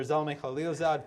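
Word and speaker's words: Zalmay Khalilzad: stage today uh ambassador zalme khalilzad former u.s ambassador to iraq afghanistan and the united uh nations and now president and ceo of griffin partners is that the proper pronunciation yes it is okay excellent yes well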